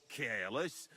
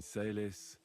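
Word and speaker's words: caelis: Pater Noster, qui is in careless, sanctif advent... Your turn. You're saying it wrong. Listen. It goes like this. Pater Noster, qui es in celis, adveniat regnum tuum.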